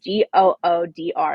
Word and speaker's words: Goodr: So, for example, one of our newest brand sponsors is, I think it's pronounced Goodyear, but it's Goodr, and they're sunglasses, and Lisa's obsessed with them.